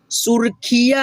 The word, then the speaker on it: सुर्खियां: तालियां, जुतियां, टोलियां, जोड़ियां, सुर्खिया। आपसे बताया हूँ कि नहीं, ये जो रेफ की मात्रा है ना आधा र के रूप में उच्चारण करते हैं।